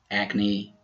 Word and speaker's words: acne: Some other words we pronounce the final E are recipe, acne, and Nike.